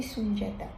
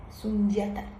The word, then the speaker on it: Sundiata: Alors je lui ai demandé, how do you pronounce it? Juste pour entendre comment il allait le dire lui-même. Il a dit Sundiata, Sundiata.